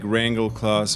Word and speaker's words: Rangleklods: If you were from Britain, you said like Rangleklods, and back in Denmark, it's Rangleklods.